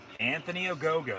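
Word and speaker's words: Anthony Ogogo: up the win i would have to assume anthony ogo that's how you pronounce his name junior olympic champion says excalibur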